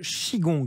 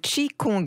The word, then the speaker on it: qi gong: Chine c'est le chigong j'espère que je le prononce bien pas tout à fait mais c'est le chi kong en fait le nom de cette pratique vient de Chi qui désigne l'énergie vitale et Kong qui signifie entraînement alors le chi kong